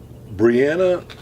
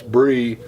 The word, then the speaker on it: Bree: in the arm for saying your name wrong but it's Bree Bree Bree hoc natal cool